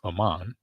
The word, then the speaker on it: Ahman: It's 2 syllables, bro. He called me. He go from saying that my name is hard to say in 2 syllables, Ahman.